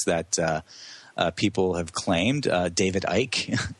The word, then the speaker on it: Icke: David Icke, am I pronouncing his last name right? David Icke. That's right. That's how he pronounces it.